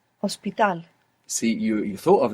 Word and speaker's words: hospital: but it's not pronounced you must imagine that it begins with an O so how would you say hospital hospital see you you thought